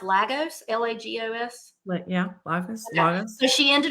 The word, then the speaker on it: Lagos: She ended up picking up, is it pronounced Lagos? Lagos? Yeah, Lagos.